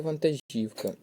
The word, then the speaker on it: вантажівка: склад правильне питання оббиіть правильний варіант наголошення слова вантажівка чи вантажівка так Правильний варіант буде вантажівка правильний варіант далі п'яте питання іть